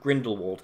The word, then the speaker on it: Grindelwald: None of which was present in Fantastic Beasts: The Crimes of Grindelwald. Hell, this product couldn't even decide on how to pronounce its villain's name!